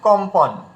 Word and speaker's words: কম্পন: তাহলে এখানে দেখুন, ক এর উপরে বিন্দি থাকার কারণে আর পরে প থাকার কারণে এটা ম যুক্ত হয়ে আমরা উচ্চারণ করছি কি কম্পন।